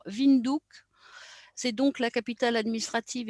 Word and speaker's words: Windhoek: On va parler maintenant de la capitale, Windhoek, en fait, qui se prononce, comme je l'ai dit tout à l'heure, Windhoek.